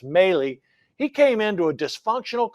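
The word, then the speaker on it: Milei: Argentinian president I think his name is pronounced mey he came into a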